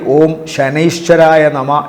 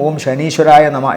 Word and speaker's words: ഓം ശനൈശ്വരായ നമ: ശനിദോഷ പരിഹാരത്തിനായി ഓം ശനൈശ്വരായ നമ എന്ന് ജപിക്കുക. പലരും ചോദിക്കും ഓം ശനീശ്വരായ നമ എന്നാണോ എന്ന്. അതല്ല, ശരിക്കും ഓം ശനൈശ്വരായ നമ എന്നാണ് ജപം ഉച്ചാരണം തെറ്റിക്കാതെ തന്നെ പറയുന്നതാണ് കൂടുതൽ നല്ലത്.